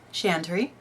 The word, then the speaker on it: Chantry: to introduce myself so my name is pronounced chantry if you've been pronouncing it